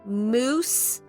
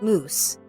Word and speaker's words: mousse: this is a spiced caramel cheesecake moose spiced caramel cheesecake mousse i should say it like that shaped in the form